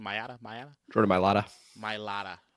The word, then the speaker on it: Mailata: How do you pronounce the name? Mailata? Jordan Mailata. Mailata. Right. Mailata.